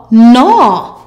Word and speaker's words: gnaw: The G is silent. GN equals N. Let's go. N at gnat. N u new. N a gnaw.